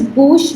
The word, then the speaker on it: bouche: And this is bouche because OU is O and CH is sh. It becomes bouche.